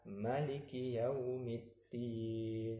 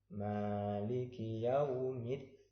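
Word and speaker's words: مَالِكِ يَوْمِ الدِّينِ: Di sini harus panjang, tidak boleh pendek. Tidak boleh kita membaca Maliki Yaumiddin. Tidak boleh. Bacanya harus panjang. Maliki Yaumiddin.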